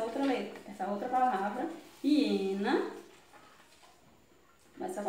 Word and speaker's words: hiena: Hiena. Do mesmo jeito, né? Só sai o som na vogal I.